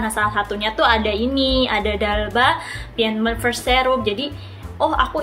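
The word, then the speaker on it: d'Alba: Tulisannya tuh di Alba, tapi dibacanya tuh bukan The Alba ya teman-teman, tapi Dalba.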